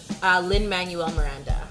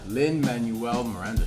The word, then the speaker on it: Lin-Manuel Miranda: Lin-Manuel Miranda. Lin-Manuel Miranda.